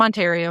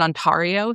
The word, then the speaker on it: Ontario: and like I'm from Ontario in Canada. People will pronounce it onio specifically in podcast and true crime to get people to tag them on socials.